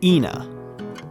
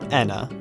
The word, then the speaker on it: ENA: pronouncing this name as Ena. I'm aware of the fact that some people say Anna or sometimes even aa, but in all my research, it seems like any pronunciation is fine.